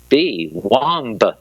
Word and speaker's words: womb: "WOMB, Womb," said Roy Lee, pronouncing the word with a heartbeat. "That'd still be the start of wombat. That no change anything." "Or it could be," led Jerome. "Rhymes with room."